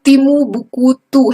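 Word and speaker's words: Timbuktu: तो ये 4 interlinked lake जो है ये वेस्ट ऑफ ये तिमुबुकुतु है, तिमुबुक्तु, इस तरह से इसको फोड़ करके इसका प्रोनाउंसिएशन करना चाहिए, तो इस एरिया को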